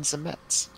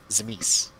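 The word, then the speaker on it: Tzimisce: There's 3 or 4 accepted pronunciations. Yeah. The first book that covered him, I think, had like 3 official pronunciations. I think it's Zemet. Zemis? Zemis is always what I've called him. Yeah. I was going with the pronunciation they put in the revised book, rule book, so.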